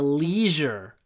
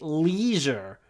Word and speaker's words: leisure: Americans say, I work in the leisure industry. So Americans say leisure. We say leisure.